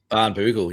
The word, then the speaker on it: Barnbougle: How do you pronounce that? Barnbougle? Barnbougle.